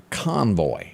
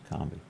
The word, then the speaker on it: Convy: Bert Convoy passed away. It's not Convoy. How do you say Bert Convy. Convy. Oh, yeah, there's not an O there.